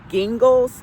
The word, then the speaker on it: Gingles: Mary Gingles, I think the name is spelled Gingles, like the liquor gin, with Gles, Gingles, or something like that at the end.